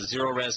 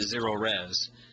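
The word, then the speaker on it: Zerorez: z just remember if you spell it backwards you still get zero res zero res stands for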